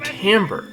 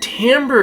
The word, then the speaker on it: timbre: instrument, we often use the term timbre, which is spelled completely different than the way it's said, but timbre is how we can tell the difference between a trumpet and a bassoon.